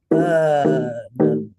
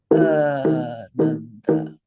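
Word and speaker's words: Ānanda: So this word is pronounced Ananda. Ananda. Two beats for the first syllable. Ananda.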